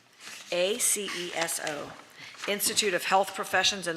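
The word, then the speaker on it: ACESO: of licensure we have one um a-c-e-s-c-s-o -s -a-c-e-s-o Institute of Health Professions in Longwood number 7630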